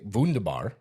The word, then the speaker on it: wunderbar: So Germans, they say wunderbar, Wunderbar. but it's spelled with a W.